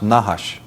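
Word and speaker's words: נחש: semetic for serpent is nahash of course they didn't use vowels so it's just nhsh but that is pronounced nahash and it actually means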